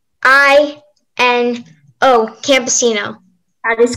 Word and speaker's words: campesino: have all the information yeah so the only pronunciation is campesino it's and now and ends from spanish it's